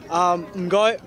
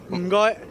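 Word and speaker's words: 唔該: Mgoi. Mgoi. Almost there, like say it again. Mgoi.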